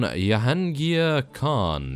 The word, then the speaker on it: Jahangir Khan: us, and that is, of course, taking on Jahangir Khan.